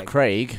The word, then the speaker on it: Craig: Quantum VES apparently everyone's upset with how we pronounced Craig Daniel Craig it's Craig Craig Gavin was just like Daniel Craig [